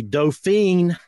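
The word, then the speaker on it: Dauphin: purchasing the it was it's a doofen in French it's a dolphin in the United States so a little name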